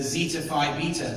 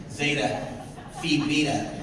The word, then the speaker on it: Zeta Phi Beta: As an active member of the Zeta Phi Beta sorority, I don't think that's how you say it, is it? It's Zeta Phi Beta sorority.